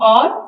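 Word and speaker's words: hour: जिसमें T silent है second और जिसमें एच साइलेंट है डेट बी साइलेंट टू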